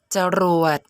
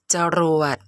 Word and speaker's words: จรวด: หลัก ใน การ จำ พยางค์ หน้า ออก เสียง อะ กึ่ง เสียง พยางค์ หลัง ออก เสียง หอ นำ ตัว อย่าง คำ อักษร กลาง นํา อักษร ต่ำ เดียว จรวด จรวด อ่าน ว่า จอ อาจ